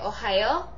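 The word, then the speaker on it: おはよう: And what's even better is that you can just say ohayo. It's informal, but it's good with friends, and it's very simple to remember because it's pronounced exactly the same as Ohio, the state.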